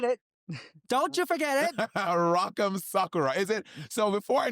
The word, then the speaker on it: Sakura: Sakura. Is it? So before I knew, I was saying Rock'em Sakura, but it's Rock'em Sakura. It's Sakura, kind of like soccer ball.